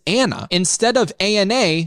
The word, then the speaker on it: ANA: The part that Ethan calls Anna stands for anti-nuclear antibodies. It's an acronym that Ethan pronounces Anna instead of ANA like most every medical professional does.